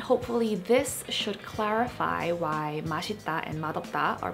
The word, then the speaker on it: 맛: So in the case of 맛, when it is followed by case number 1, then the 시옷 받침 is not pronounced as a 디귿, like the earlier pronunciation rule we discussed, but it is just pronounced as a 시옷, like the regular original 시옷 sound, that S or SH-ish kind of sound.